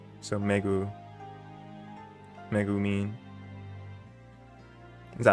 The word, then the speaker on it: Megumin: and pronunciation has its Megumin. Yeah. Megumin. Yeah, because I know like certain vowels are always said the same way. Just like in Spanish. Because the A will always be a.